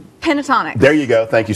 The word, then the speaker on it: Pentatonix: I'm really bad at mispronouncing name. Pentatonix.